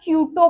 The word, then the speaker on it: Kyoto: तो एक आया था क्योटो प्रोटोकॉल। ठीक है, नाम सुना आपने कहीं? KYOTO, क्यूटो ही प्रोनाउंस करते हैं इसको, प्रोटोकॉल। अगर कोई कुछ और प्रोनाउंस करता है तो पता नहीं।